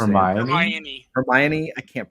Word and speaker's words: Hermione: Met Your Mother would be Charisma and um hermani I can never pronounce Paramount what how do you pronounce it Hermione I can't pronounce it I'm not a big